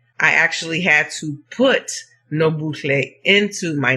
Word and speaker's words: Nobuhle: Nobuhle is phonetically pronounced exactly as you see the letters, which means don't ignore the H. It needs to be pronounced. Nobuhle. And all you're doing is just blowing that H out while you're saying the L.